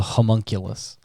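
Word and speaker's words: homunculus: to create aulus and or Gollum it's actually pronounced a homunkulus aulus and also prime example of how to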